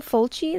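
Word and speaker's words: Fulci: lots of violent sex Luke Lucio full cheese that's how you say his name Fujio Lucia's Italian yeah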